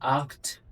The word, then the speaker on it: acht: फिर आया आक्ट, सी एच है, उससे पहले ए है, ख हो गया, आखट, आक्ट।